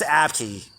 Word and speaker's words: Abke: I know it's pronounced Abke.